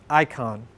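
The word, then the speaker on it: εἰκών: a greek word for this too and it's pronounced icon it's where we get the english word for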